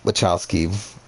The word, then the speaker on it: Wachowski: if i'm ever going to do a uh wachowski ranking i guess that'll be uh so you pronounce their name yeah it is wachowski right